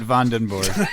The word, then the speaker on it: Vandenberg: Vandenberg, and he actually pronounces it Vandenborg.